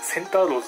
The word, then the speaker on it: 聖アローズ: センターローズって読みます。